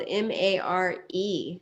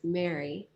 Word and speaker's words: Mare: And that's under Eve and Mary, and it's spelled Mare. So it looks like mare, but it's Mary.